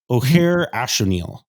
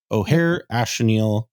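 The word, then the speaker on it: Ojer Axonil: list oh hold on I'm trying to make sure I say it right O'Hare ashonil is how you say it O'Hare ashal it deepest might is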